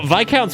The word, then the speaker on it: viscount: You know, Vic count's one of those words that's like it's another